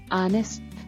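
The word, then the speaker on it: honest: silent letter L ಸೆಮನ್ ಆನೆಸ್ಟ್ ಪ್ರಾಮಾಣಿಕ silent letter H ಆನೆಸ್ಟ್ ಇದು ಇಂಗ್ಲಿಷ್ನಲ್ಲಿ ಸೈಲೆಂಟ್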